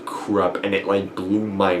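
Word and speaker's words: Krupp: ideas and that more work on the principle krump well I don't know I don't know I've been calling him krump throught the entire series until like someone told me it's pronounced krub and it went blue my mind was like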